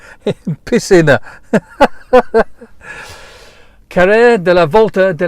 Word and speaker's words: piscina: When it's trying to tell me it just has a very bad Spanish pronunciation. It's just piscina.